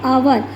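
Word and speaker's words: hour: है एन अवर एन आवर अच्छा अब देखो बेटा यहां पे एच है एच इज नॉट a vowel then why यू are using an आवर is starting with H यहां पे एन का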